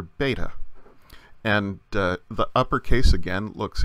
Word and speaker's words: beta: outline of a letter beta the sound is just like our B as in bird in later Greek it came to be softened to more of a sound like V and so in modern